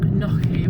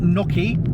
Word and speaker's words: gnocchi: But we had an Gnocchi. Oh, it's not gnocchi. It's oh gnocchi. God, don't do this to me, Tam. It's gnocchi. Gnocchi. Gnocchi. You got to say it right.